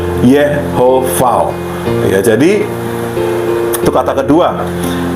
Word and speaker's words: Yahweh: Yahweh itu pelafalannya Yehovah.